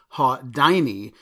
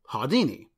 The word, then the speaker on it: Haudyni: some might pronounce Hadean E as ha Dini because of the Y as in dynamite but in Germany it would probably be pronounced hiya Dini now I couldn't find